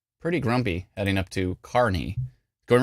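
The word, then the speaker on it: Kearney: on as you can now see it's spelled car with a K and then the word ear car not kiery as phonetically it would make perfect sense if k e a r is k k NE Kier no this is pronounced car NE Carney okay any who um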